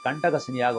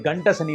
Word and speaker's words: கண்டக சனி: உங்கள் ராசிக்கு 7ஆம் இடத்திலே கண்டக சனியாக வருகிறார். நிறைய பேர் அதை உச்சரிக்கத்தில் கண்டக சனி என்று கூறுவார். கண்டக சனி என்றால் கண்டக சனி. கண்டக சனி என்றால் கண்டவர்கள் கண்படுகின்ற சனிதான் கண்டக சனி. அது கண்ட சனி அல்ல, கண்டம் ஏற்படுத்தாதா.